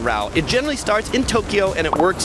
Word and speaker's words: Tokyo: no City known as Tokyo it's Tokyo kind of like two syllables same with Kyo two